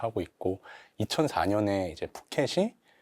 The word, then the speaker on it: 푸껫: 예시가 이탈리아와 또 부켓인데 현지 언어로 발음 하면은 이탈리아 푸켓이 되어야 한다고 하더라고요 된 소리를 쓰지 못하는게